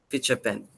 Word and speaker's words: Pichapen: Did I get that right? Pichapen. Pichapen, yes. That's how it's pronounced.